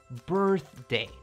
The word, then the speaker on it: birthday: You put your tongue between your teeth, so your tongue makes this kind of a movement when you say birth, like that. で最後は day ですね。 birthday.